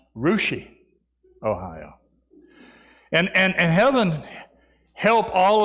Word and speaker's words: Russia: There's actually a place called Russia, Ohio, but it's pronounced Rushi, Ohio.